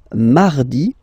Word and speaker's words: mardi: Then mardi, mardi. So you can hear that you don't pronounce it that strongly, this R. Huh?